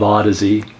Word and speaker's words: Audeze: So they came up with the spelling of Audeze. Did you guys get that? That's the origin of how to pronounce the name Audeze. Okay? So when you think of Audeze, think of Odyssey.